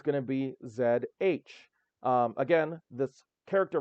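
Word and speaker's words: Ж: The pronunciation is zh, which is similar to the S in leisure or the G in beige.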